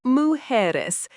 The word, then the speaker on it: mujeres: Plural, mujeres, pronounced mujeres.